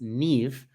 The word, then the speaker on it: Niamh: Now, for us in the US, your name is pronounced Neve, but it's spelled Niamh Ross.BJJ. So it has a different spelling than how we pronounce it here in the States. Yes, it's Scottish Gaelic.